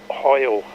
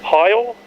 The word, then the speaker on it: Heil: an entertaining treat uh bob hoyle oh you'll have to tell me what the correct pronunciation is heil yeah that'll do bob hile was just loved his